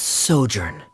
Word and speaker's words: sojourn: everything clear uh director's osimos how do you pronounce this word let me see Ah that's sojourn it means to stay for a while this